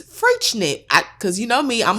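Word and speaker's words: Freixenet: Anyway, I thought it sounded like not how it sounds, and so the X apparently is a ch sound, and it's Freischnit. Because you know me, I'm a Googler. Freischnit.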